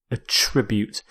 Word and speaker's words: attribute: is attribute a tribute it's a verb so with this verb you stress the second syllable it also works as a noun where you stress the first attribute but here as a verb attribute if you attribute something